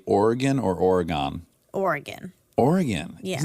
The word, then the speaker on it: Oregon: that's weird yeah yeah it wasn't until my family moved to Oregon that I was forced to learn to say it correctly so is Oregon right yeah cuz that's how oregonians say it oh right yeah yeah